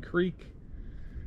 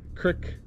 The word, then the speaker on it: Creek: Pine Creek, Crick or Creek, however you want to pronounce it, depends where you're from.